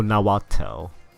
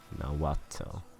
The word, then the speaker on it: Nahuatl: Okay, oh, Nahuatl. Okay. Nahuatl. Even though there's like H there, but it's like a Hua sound. Wait, can Wikipedia... Nahuatl.